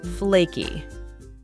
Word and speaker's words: flaky: We stress the word on the first syllable. Flaky.